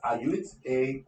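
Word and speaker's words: AIUT: There's also one of our partners, the pronunciation is Iot, A-I-U-T.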